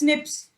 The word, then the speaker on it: SNPs: difference, SNP, single nucleotide polymorphism is, it is pronounced as SNPs, occur in humans.